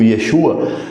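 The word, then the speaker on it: ישוע: aqui sobre o nome Jesus yesus né Se for do do grego ou Yeshua se for do hebraico eh esse primeira essa primeira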